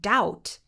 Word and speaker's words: doubt: For example, the English word doubt comes from the Latin word dubitare. This silent B was not there originally.